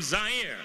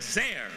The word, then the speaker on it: Zaire: to you live from zaire some would pronounce it there they're wrong it got big laughs